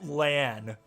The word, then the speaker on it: Lan: at you I'm sorry it's not Ian it's LAN maybe that's why I